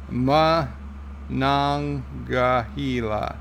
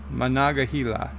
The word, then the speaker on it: Monongahela: Okay, Thomas Potts is giving me the pronunciation. Monongahela. Monongahela.